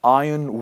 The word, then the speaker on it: iron: Number five is iron will just an important note here in this world. We do not pronounce. Are we say, ah yen, please repeat after me.